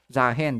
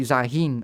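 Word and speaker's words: Xayah: Zahen, that's how you pronounce the name. I mistakenly say Zahin a lot of times.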